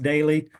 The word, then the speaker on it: Doelle: My name is spelled funny. Last name's pronounced daily, but it's dl.